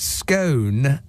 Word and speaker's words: scone: It's pronounced scone as in phone, not scone as in Ron.